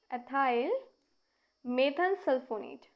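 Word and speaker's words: ethyl methanesulfonate: EMS, इसकी full form क्या होगी, एथाइल मेथन सल्फोनेट, ठीक है ना, एथाइल मेथन सल्फोनेट। इसे हम कैसे प्रोनाउंस करेंगे, इथाइल मेथेन सल्फोनेट, ठीक है।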